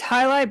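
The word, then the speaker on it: jai alai: plastic ones no it it's it's highlight but it's spelled j a i a l a i like these one like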